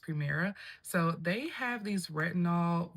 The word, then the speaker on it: PRMR: Another brand that you may or may not have heard of is going to be Primera, and that's PRMR, but it's pronounced Primera.